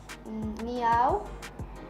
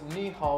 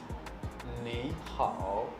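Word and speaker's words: 你好: Meow.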